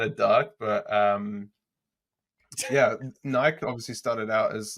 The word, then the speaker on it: Nike: stop it in Nike Nike which is the correct pronunciation by the way Nike they they started as